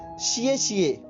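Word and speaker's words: 谢谢: और इसका जो चाइनीज में शब्द बनेगा वो बनेगा शिए शिए, शिए शिए, ठीक है।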